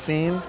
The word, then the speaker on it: Sean: Sean, just S-E-A-N. That's it? Yeah. Well, it's actually pronounced Scene.